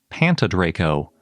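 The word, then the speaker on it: Pantydraco: That is, if you can pronounce it the Welsh way.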